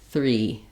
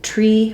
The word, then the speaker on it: three: for that th also people will often um say something more like tree for this where the th sound gets stopped that's because you're blocking the air your tongue is in the wrong place so you really need